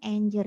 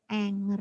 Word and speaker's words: anger: Nah yang kedua adalah fase Anger ini bacanya enjer Ya bukan Anger of Hai jadi fase Anger